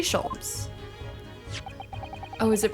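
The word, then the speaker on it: Sholmes: one and only oh i see your german was it no no i have no her i mean i have hair please call me scholes oh is it pronounced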